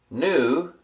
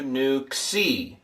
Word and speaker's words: nu: So it'll stick lamb mu new looks like that and it's transliterated like that and pronounced n as in number.